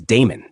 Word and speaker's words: Damon: teacher of music was Damon the first syllable of this name they say should be pronounced short Aristotle however maintains that